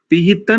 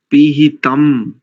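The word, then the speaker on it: पिहितम्: हिरण्मयेन पात्रेण सत्यस्या, पिहितं नहीं करेंगे, पिहितम, पिहितम मुखम।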